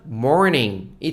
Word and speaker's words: morning: 사람들은 한국으로 넘어올 때 사실은 알 발음을 잘 안 해주는 경향이 많은 것 같아요 그죠 그래서 영어 발음하면 morning이 됩니다 모닝 아니고 morning